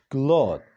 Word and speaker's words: cloth: لکه تاسو به اورېدلی وي زیاتره خلک وایي کلات او کلاتس. دا غلط دی. د دې صحیح تلفظ دی کلوت، CLOTH کلوت.